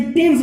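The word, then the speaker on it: Thomas: इस तरह से THO, ठीक है, MAS, तो क्या बोलते हैं इसको, है टामस बोलते हैं, थॉमस नहीं बोलते, टामस बोलते हैं, व्यक्ति का नाम है, ठीक है।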